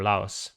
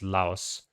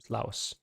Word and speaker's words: Laos: and we're straight away back in lao or laos i actually recently read up on that and apparently it is laos um and it's just porn is trying to